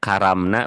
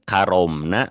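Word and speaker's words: كرّمنا: Ayah bunda kan itu bacanya salah. Harusnya kan bacanya gini ayah bunda. Walakad karomna bani Adam.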